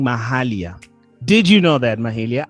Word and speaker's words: Mahalia: for the whole time so um but yeah mahalia is how you pronounce it thank you very much for taking